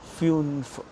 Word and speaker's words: fünf: The same pronunciation. Fear. Fear. Number five, F, U with umlaut, N and F again. Fünf.